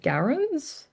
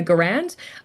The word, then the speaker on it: Garand: So apparently Kane's men are using M1 Garens or or Yeah. Yeah. Garand.